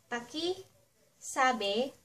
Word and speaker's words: pakisabi: If you wanna say ----- Pakisabi _____ Paki sabi sabi that means, "Can you